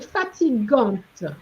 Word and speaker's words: fatigante: La montée était longue, so far you manage, et fatigante. One didn't pronounce the T, fatigante.